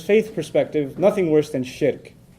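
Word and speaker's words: shirk: Muslim from his faith perspective nothing worse than shik s h i r k sounds like Shrek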